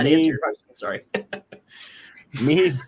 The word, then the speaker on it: Maeve: Maeve rhymes with Dave is here.